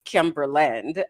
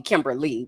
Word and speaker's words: Kimberland: of the classroom, because people would always mispronounce my name. And I used to get sick and tired of correcting people because either people would just stop and call me Kimberly, which is just not Oh, no, that's